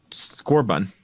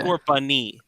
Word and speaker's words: Scorbunny: Yep, and that's Scorbun. Yes, You got the name wrong. said. You thought it's the goat, but you got the name wrong. Yeah. Scorbunny.